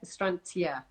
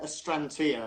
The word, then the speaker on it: Astrantia: A lot of people all have different ways of pronouncing them. I just tend to go to it with Astrantia. Okay, so Astrantia.